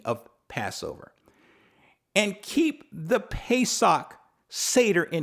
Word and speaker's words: Pesach: english term passover in the hebrew is pessoc pesach meaning spell let me spell it p is in paul e s a